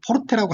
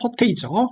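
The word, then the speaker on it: forte: 자, 음악에서는 이태리 발음으로 포르테라고 하죠. 영어식 발음은 포테이죠.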